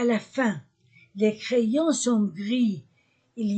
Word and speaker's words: gris: prononciation le gant est gris le gant est gris je ne prononce pas le S le gant est gris